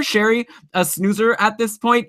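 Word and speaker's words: Sheary: let me correct myself Conner Cherie as I apparently of learned his name is pronounced is Conner Sherri a snoozer at this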